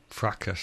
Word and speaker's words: fracas: Now, I learnt that word from the theme song to Supergram, so it rhymes with B.A. Baracus. Fracas, yeah.